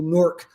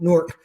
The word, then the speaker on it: Newark: But it's one whole syllable, Newark, like Fort Newark.